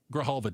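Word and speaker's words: Grijalva: Why do you think House Speaker Mike Johnson hasn't sworn in Arizona Representative Elect Adalita Graalva? Did I pronounce her name properly?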